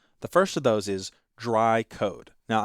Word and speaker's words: DRY: The first of those is dry code. Now, I'm always going to pronounce that as dry, but it's actually three letters, D R Y, which stand for don't repeat yourself.